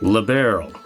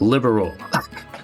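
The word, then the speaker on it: Liberl: As liberal, not liberal. Which was the wrong pronunciation the entire time.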